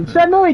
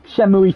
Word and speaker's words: Shenmue: Don't put an extra E in there if it doesn't get spoken.